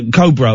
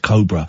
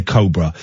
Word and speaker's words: Cobra: Anyway, we did a thing for Cobra beer, but I pronounced it Cobra, and she took me to one side and said, Ian, I think it's pronounced Cobra, and I was mortified.